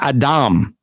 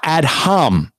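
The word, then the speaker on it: אדום: that's because this is the actual word atom which is how you would pronounce it not add hum you see what he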